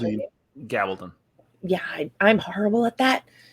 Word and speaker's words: Gabaldon: Diana Gibbon has even said, I think that's how you pronounce it. Gabaldon.